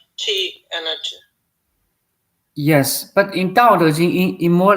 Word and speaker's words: Dao De Jing: So basically, if we would talk about Dao De Jing, or how you pronounce it? Dao De Jing, yes.